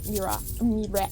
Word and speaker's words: Miraak: So, we still had to meet Mirac. That's how they pronounced it.